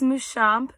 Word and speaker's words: Muschamp: Muschamp or Muschamp? Muschamp. Correct. Okay. Muschamp or what was the second one? Muschamp. Either one. Muschamp. Okay. All right. Okay. Which is the correct pronunciation? It's Muschamp, but please know that I am not picky